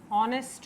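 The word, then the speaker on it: honest: गया, ऑनरेबल हो गया, ऑनेस्ट हो गया या ऑनेस्टी हो गया, ठीक है। इन सब के अंदर बेटा साउंड आप देखेंगे एच कैपिटल, सॉरी एच जो है साइलेंट है।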